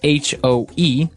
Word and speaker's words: hoe: It's H-O-E, and it's pronounced hoe.